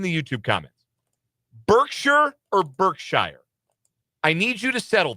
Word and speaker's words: Berkshire: How do you pronounce that? Birkshshire. Okay. That's you're you're on team Abby. You're on my wife's team. I pronounce it Bergkshire. When you call their pro shop, it says great life Bergkshire. The the Warren Buffett's company, Berkshire Hathaway. It's spelled the exact same way.